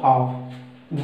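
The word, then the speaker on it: half: हाफ देखिए, एच ए एल एफ, एल से पहले ए है ए ओ यू, ये बताया था ना, तो हमारी एल मूव हो जाएगा, प्रोनाउंसिएशन उच्चरित क्या होगा हाफ।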